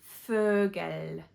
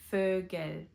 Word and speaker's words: Vogel: The letter V is pronounced as F, F, such as in Vogel. Vogel.